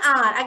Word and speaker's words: hour: Then, the mother reached an hour. Again here, H is silent as I already told you.